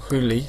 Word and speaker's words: Holi: why the festival of Holi Holi Holi or hooli sometimes it's pronounced is important for Hindus